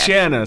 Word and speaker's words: Shanna: Shanna, sorry. Rhymes with banana usually helps people remember.